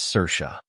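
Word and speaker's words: Saoirse: as s a o i RS the correct pronunciation of this word is cersa cersa means an Irish female given name meaning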